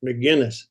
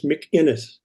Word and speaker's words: McInnes: Everybody does the Irish pronunciation, McGuinness. Well, I do now. Yeah, but it's McInnes. There's actually an invisible K in there somewhere.